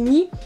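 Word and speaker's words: に: La réponse se trouve dans la prononciation japonaise du 2 qui se dit ni et ressemble au miaulement japonais du chat nyan nyan nyan.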